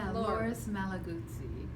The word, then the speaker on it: Loris Malaguzzi: know that I'm going to say the last name wrong, so you can say it for us. So it's Loris Malaguzzi, who is one of the founding educators in the schools in Reggio Emilia in Italy.